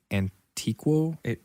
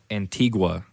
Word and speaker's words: Antigua: talk yes today we are drinking a guatemalan antiqua antique antique nope i couldn't get i cannot pronounce this you got it at an antique shop antigua oh guatemala antigua um yeah these it's a